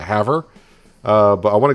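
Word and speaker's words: Havre: there's one going to have her i think someone said i pronounced i should be pronouncing that haver uh but i want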